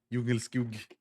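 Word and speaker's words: Djungelskog: That's how it's pronounced, basically. Yeah, Jungle skug.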